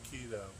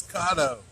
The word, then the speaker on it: Kato: I keep saying keto. It's Kato.